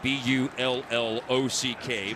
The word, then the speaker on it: Bullock: familiar with the NBA, the Reggie Bullock style pronunciation of the last name B-U-L-L-O-C-K, Bullock.